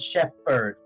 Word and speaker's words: shepherd: pronounce uh s-h-e-p-h-e-r-d at shepherd we pronounce it as shepherd not at shepherd because you know there's a ph and i somehow thought that ph is you know pronounced as f instead of p so i ended up